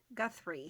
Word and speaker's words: Guthrie: Guthrie, I think is how it's pronounced.